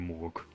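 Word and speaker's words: Mork: Others believe in Morg. Your gods rhyme with orc.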